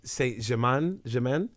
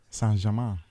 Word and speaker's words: Saint-Germain: wearing a PSG top, which is, I never pronounce this, Paris Saint-Germain. Germain. I never pronounce Saint-Germain.